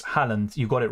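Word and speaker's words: Haaland: you Mohammed I appreciate that it's Portland not hoyland not it's Holland you got it right so Halland right I'm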